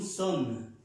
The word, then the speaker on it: sommes: Y para nosotros, la primera persona del plural, nous sommes, nous sommes, nous sommes. Vemos que aquí hay dos S, ya la pronunciamos como una S normal. Nous sommes, nous sommes, nosotros somos o nosotros estamos.